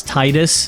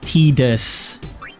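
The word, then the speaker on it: Tidus: Um, I always pronounced this as Titus as a kid. I think a lot of people pronounce it pronounced it as Titus, but technically his official name in English is Tedis, which is not great,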